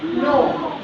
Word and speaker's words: know: एक और वर्ड है KNOW, इसमें क्या आवाज़ आएगी, सुनो क्या बताया अभी, साइलेंट हो जाता है, इसकी आवाज़ आएगी नो।